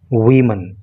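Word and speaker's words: woman: pronunciation हो जाता है वमन तो जब कोई बोले वुमन तो समझना एक महिला की बात हो रही है जब कोई बोले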